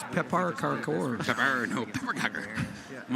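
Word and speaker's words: pepparkakor: you obviously I can't pronounced read that well. Swedish. It's Pepar Karkor.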